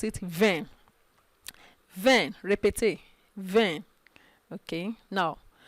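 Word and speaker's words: vingt: 10 okay it's just one word so you pronounce it vein then repetit then okay now from 21 21 now you're going to pronounce 20 and 1 20 and 1.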